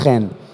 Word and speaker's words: Chen: I'm I'm from Israel my name is spelled Chen it's very confusing it's actually pronounced Ken and I have to